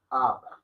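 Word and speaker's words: अब: Si alguno me colabore, me dice o me escribe cómo se pronuncia. Correcto. Ab.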